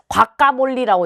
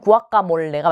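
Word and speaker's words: guacamole: 여러분 한번 들어봤을 텐데 과카몰리라고 이렇게 적어 놓은 거 있어요. 근데 원래 이제 발음은 구아카몰레가 맞아요. 근데 이거 뭐냐면 멕시코에서 이제 만든 음식인데 아보카도를 으깨 가지고요.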